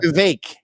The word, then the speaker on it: Vivek: Vivek. It rhymes with cake.